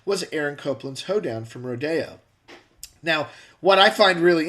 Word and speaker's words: Rodeo: It's pronounced Rodeo because he wrote it when he was in France.